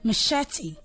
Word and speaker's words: machete: chef and the last one how there is machete machete so try not to say much it's okay is machete okay I hope you learned one or two